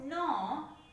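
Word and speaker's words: know: Here K is silent. We read it as no, and here G is silent.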